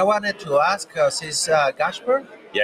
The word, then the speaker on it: Gáspár: Uh, we have our amigo and I wanted to ask sis uh Gashburg. Yeah, Gashburg. Uh, Hungarian pronunciation.